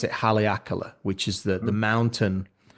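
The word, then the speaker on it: Haleakalā: Well, so I was on the island of Maui and I was up, I think you pronounce it Haleakala, which is the Hmm?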